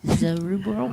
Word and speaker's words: Zerubbabel: When I worked every other weekend, and I so missed being here, and I prayed the prayer of Zerubbabel. Is that how you say his name? Zerubbabel. Yes.